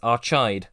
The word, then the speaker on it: Archaide: Wade's ship, the Vonnegut, exits lightspeed at the planet I've decided to belligerently pronounce as Archide.